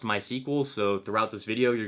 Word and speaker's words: MySQL: or my sequel database MySQL is pronounced my sequel so throughout this video